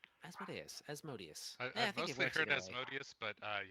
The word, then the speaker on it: Asmodeus: Do we say Asmodeus or Asmodeus? Asmodeus. I've mostly heard Asmodeus, but it's whatever your home group uses is the right pronunciation.